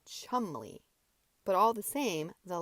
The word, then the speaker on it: Cholmondeley: Cholmondeley sounds prettier, as you call it, than chumley.